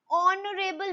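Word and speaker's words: honourable: then next word ऑनरेबल मैन, अब फिर से वही बात आ गई,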